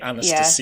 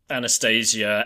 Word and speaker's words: Anastasia: Probably Anastasia Once Upon a Time, although I guess the Russian pronunciation should be more like Anastasia.